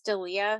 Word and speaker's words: D'Elia: Well, and is it Chris D'Elia?